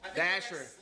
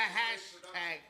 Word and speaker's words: Dasher: Dasher, not hashtag.